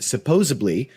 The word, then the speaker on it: supposedly: that word correctly but supposedly 5 hours now we we didn't even like come close to that oh was it how do you say word supposedly there's no B supposedly supposedly supposedly supposedly supposedly thank you